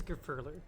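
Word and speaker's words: Gurfurlur: It is Grufurler. Okay. Grufurler. So the what do you call it? The emphasis, the stress is on the second syllable there. The fur. So it's Grufurler.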